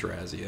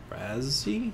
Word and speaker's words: Razzie: It probably is Razzie, actually. Pronounce... Razzie?